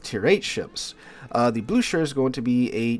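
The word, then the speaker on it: Blücher: German Heavy Cruiser the blue Sher I think that's how you say it according to the comments in uh my video talking about it I was saying Bluer apparently it's blue sh so there you go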